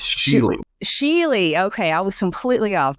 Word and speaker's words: Schuele: uh Michael Gentry and Christopher Kitty is it Shu or shoule how do you pronounce it it's she Sheely okay I was completely off my bad um